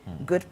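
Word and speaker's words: Ghud: It's spelled G H U D. Good park. Just next to the Acra Mall.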